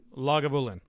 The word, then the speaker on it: Lagavulin: lagu lavalan how do you how do you pronounce it lagavulin vagabulin and brulotic i believe yeah so i've